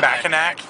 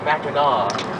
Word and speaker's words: Mackinac: No, it's not Mackinac. Fuckers. It's French. You don't pronounce the last C. It's Mackinac.